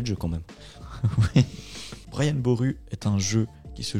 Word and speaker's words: Brian Boru: Brian Boru, c'est comme ça que ça se prononce. C'est sûr. Rouler les R.